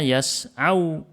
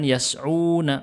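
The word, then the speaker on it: يَسْعَوْا: ketemu dengan wau jamaah berarti bacanya yas'au yas'au bukan yas'una bukan linasril Fasad mereka berusaha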